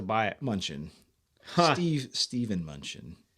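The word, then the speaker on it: Mnuchin: it munchin Steve Steven munchin I think is how you pronounce his name like I said oh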